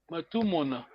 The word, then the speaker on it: Matou Mona: Attention, prononcez bien Matou Mona. Matou Mona. Oui, Matou Mona. Attention, prononcez bien.